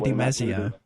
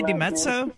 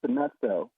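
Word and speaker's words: DiMezzo: I still don't know DeMezio. Are you trying to say DeMezzo? How come you're so angry, man? Oh, that's how you say it. Forgive me, like Reuters. It's DeMezzo.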